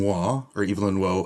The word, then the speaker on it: Waugh: Number 2, and I'm going to pronounce this the British way. I once heard it. Evelyn Waugh, A Handful of Dust.